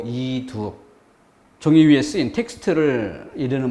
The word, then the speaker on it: 이두: 그래서 이독이라고 읽지 않고 이두.